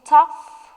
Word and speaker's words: tough: the word tough so tough will be cough rough or through of course the tough rhymes with the word rough 72 which word has